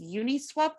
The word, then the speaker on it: Uniswap: us in Bitcoin, Ethereum, Maker Compound, and is Uniswap the correct way to pronounce that?